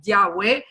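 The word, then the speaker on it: Yahweh: israel se llama gay que lo pronunciamos como yagüe y su nombre significa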